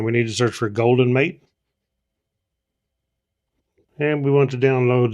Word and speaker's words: Goldenmate: the name wrong early it's not gold mate it's actually golden mate the the way this